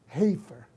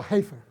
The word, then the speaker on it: heifer: Se dice heifer. Diga conmigo heifer. ¿Okay? Red heifer, le dicen. En inglés se dice red heifer. O heifer, dicen algunos.